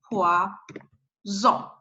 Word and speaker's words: poison: So if you have just one S between two vowels, you need to pronounce Z, like poison, poison. But if you have S with the other consonant or two S together, you need to pronounce C. It's poisson. This one, it's poison, but this one, it's poisson, poisson.